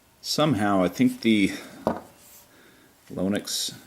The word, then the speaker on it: Lonex: somehow I think the lonix Factory that's how I pronounce it somehow the lonet's factory or lonex uh screwed up the